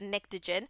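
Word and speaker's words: pnictogen: all right so um much like the word pterodactyl the p is silent so that's how you say that nictogen and nixogen is actually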